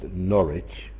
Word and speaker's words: Norwich: That one team is pronounced Norwich, where the W is mute, and another team is pronounced Ipswich, where you can hear the W.